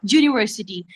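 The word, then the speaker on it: university: देखिए लिखा है आ हम इसको यूनिवर्सिटी यू से प्रोनाउंस नहीं करेंगे अ यूनिवर्सिटी तो ये हल्का सा जे का जर्क है ना ये इसको कंसोनेंट बना देता है।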